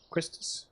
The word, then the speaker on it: Quistis: Quistis, right?